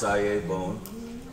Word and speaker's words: Sayabone: He has a proper pronunciation of his name, but I've said it wrong for so many years it feels like I'm putting on airs. But it's Sayabone, and this is him.